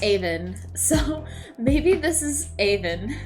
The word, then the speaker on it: Avon: Stratford upon Aan is pronounced Aan.